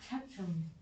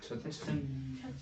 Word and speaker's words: 채층: 차츰. 발음이 이상해. 채층. 채층.